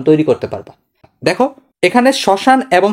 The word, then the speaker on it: শ্মশান: তার মানে ম যদি শব্দের আদিতে ব্যবহৃত হয়। আদি মানে শুরুতে ব্যবহৃত হয় তখন ম এর উচ্চারণ হয় না।